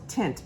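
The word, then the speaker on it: Tynt: one is from this brand called tint but it's spelled t-y-n-t and this one is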